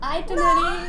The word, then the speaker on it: itinerary: It's called itinerary.